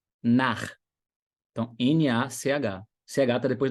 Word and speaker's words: Nach: CH em alemão, anota essa regra. CH, depois das vogais A, O, U, é um rasgadinho. Um exemplo aqui, ó. Nach.